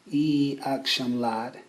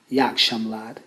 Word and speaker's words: İyi akşamlar: This one is funny too because when you hear it spoken on the street, it sounds more like yakshamlad. It's as if that second vowel E is not really being pronounced.